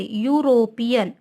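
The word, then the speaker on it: European: इसका साउंड कहाँ से स्टार्ट हो रहा है, यू से, यूरोपियन। यहाँ भी देखिए या आ रहा है ना, या का साउंड आ रहा है यहाँ भी, तो या क्या है यहाँ पर, कॉन्सोनेंट है।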